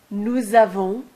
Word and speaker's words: nous avons: You'll see that in this last or second column, you always pronounce a Z between the S and the A. Nous avons, vous avez, ils ont, elles ont. This is called liaison.